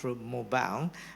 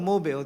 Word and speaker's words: Mobile: It's pronounced as Mobile, not Mobile, because it used to be a city that builds automobile, right?